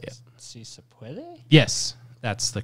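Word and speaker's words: Sí se puede: Si se padwe. At least that's how Jill Biden pronounced it back in the day.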